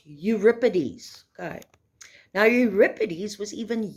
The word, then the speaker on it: Euripides: you'll see that it looks like europeanus it's pronounced euripides okay now euripides was even younger than his